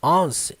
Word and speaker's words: once: Uma coisa aqui muito importante sobre a primeira palavra dessa frase, embora ela pareça que é once, não, ela segue a pronúncia do número 1. One. Você só vai colocar o S no final. Once.